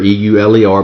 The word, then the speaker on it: Euler: It looks like Euler, E-U-L-E-R, but it's pronounced Euler.